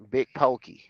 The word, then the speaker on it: Big Pokey: Pookie or pokey? Big Pokey.